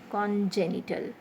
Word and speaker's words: congenital: are like many words congenital okay congenital so for con always the next is the stressed one so g-e-n-i-t-l genital is